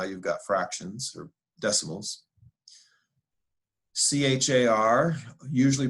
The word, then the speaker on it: char: value so now you've got fractions or decimals c h a r usually pronounced char which is a single character that's